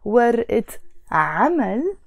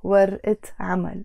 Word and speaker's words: ورقة عمل: noun, I then pronounce ورقة عمل. You notice the word ورقة on its own has a A. But when I add the عمل to it, it's becoming ورقة عمل.